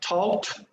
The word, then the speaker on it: talked: Okay, pronunciation, talked, T sound, okay?